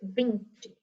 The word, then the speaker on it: Vinci: Se escreve Vinci, mas se lê Vinci.